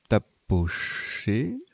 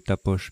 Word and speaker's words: tapoché: On a joué tapoché, puisque c'est un verbe. Bon, j'ai dû prononcer tapoche, mais c'est un verbe.